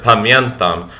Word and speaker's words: pamiętam: And also this does remind me of Polish as well, like the word pamiętam, which means I remember. Interestingly, there's not an N that's actually written there, but it's actually pronounced.